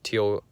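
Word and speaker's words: Tial: want to go with the teal or tile whatever its average pronounced tile q blow-off valve probably my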